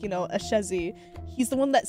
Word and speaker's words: Ashezi: he's just like thank you like you know a chezzy he's the one that said a chezzy and